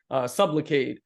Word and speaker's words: Sublocade: And now we have Sublocade, which is sounds like the word supplicate, which means to beg, right.